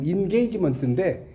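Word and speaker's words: engagement: 영어로는 이제 원래 엔게이지는 아니고 인게이지먼트인데 약간 이제 엔게이지먼트 약간 일본식 발음으로 쓴 거죠.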